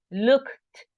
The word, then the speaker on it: looked: So we have to be sure that we are pronouncing that T at the end, because sometimes in a strong pronunciations, we feel like it is there. When I say look, oigo un k, esa es la T. No, it's looked, looked, looked, look, looked.